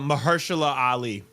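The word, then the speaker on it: Mahershala Ali: the guy who's supposed to play Ba uh Blade uh Mahersula Ali.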